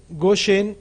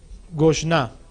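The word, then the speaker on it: Goshen: cambia esta vocal y no se dice gosen sino va a decir gosn en Génesis 4628 y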